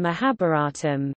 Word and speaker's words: Mahābhāratam: the Mahabharata us-uk Sanskrit mahabharatam mahabharatam pronounced ma ba TM is one of the two